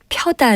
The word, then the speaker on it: 펴다: 켜다 가 맞는 표현입니다 이와 비슷한 예로 펴다 를 키다 로 발음하는 일이 종종 있습니다 채 급히 다나 어깨를 피다 같은 것이 그러니 인데요 이때도 역시 책을 펴 다 어깨를 펴다가 올바른 표현입니다 우리가 일반적으로 켜다 나